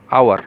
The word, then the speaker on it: hour: vowel servants are there look at the spelling it's oh you are H will be solved silent there our we will pronounce how will pronounce it our and our similarly in the next